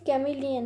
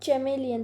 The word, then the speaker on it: chameleon: अब यहाँ पे बहुत सारे बच्चे क्या करते हैं, ये कैमिलियन है, नॉट चैमेलियन. तो ये जो CH है वो आएगा, क से उसे प्रोनाउंस करना है, हमें च नहीं करना है.